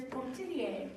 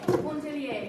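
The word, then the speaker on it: Pontellier: But the main character is a woman named Edna, and the pronunciation is Pontillier. It's French. Pontillier, yes.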